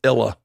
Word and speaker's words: Isla: name she goes dad trust me they're gonna say it wrong it's illa so they write it